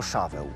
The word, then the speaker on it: Szaweł: Nadano mu imię Szaul, wymawiane po polsku jako Szaweł, imię pierwszego króla Izraela.